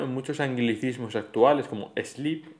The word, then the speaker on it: sleep: En los anglicismos se escriben igual, stop y sleep, pero se pronuncian con esa E protética, con ese sonido E protético, stop y sleep.